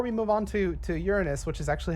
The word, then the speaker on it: Uranus: i do before we move on to to uranus which is actually how it's pronounced guys i looked it up before i move on to uranus i do want to uh to emphasize that